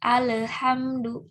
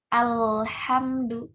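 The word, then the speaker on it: الحمد: Nah, ketika dibacanya kayak huruf qalqalah dipantulin jadi alhamdu, alhamdu. Kan banyak ya. Tanpa kita sadari kita memantulkan lamnya, tapi kita nggak sadar. Nah, itu juga termasuk kesalahan yang khafi. Harusnya jangan dipantulin, tapi alhamdu. Jangan sampai ada le-nya gitu.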